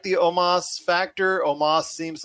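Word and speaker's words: Omos: next was aj styles and omas even though it's spelled almost it's omas defeated kofi kingston and xavier woods to win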